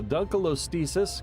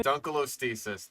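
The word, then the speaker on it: Dunkleosteus: A dunalostis could reach up to Okay, dunalostasis. That is a butcher pronunciation. You you had an acceptable one in the beginning and now you have dunalostesis. You're you're putting letters in there that don't exist.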